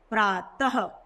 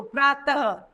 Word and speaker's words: प्रातः: में कह सकते हैं अब यह व्यंजनों के पीछे लगाया जाता है कि उच्चारण में हम ह की ध्वनि निकालते हैं जैसे प्रातः तो आइए इसे पढ़ते